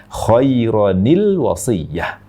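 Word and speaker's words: خَيْرًا الْوَصِيَّةُ: harus beri harakat kasrah kita ubah yang tadinya bersukun kita Ubah menjadi berkasrah kiron menjadi kironi tinggal hubungkan dengan huruf lam yang ada di kata berikutnya hingga menjadi kironil wasiah jadiir Al wasah jika kita sambung maka kita bacairil wasiah rnya tidak dibaca panjang dan timbuhkan huruf nun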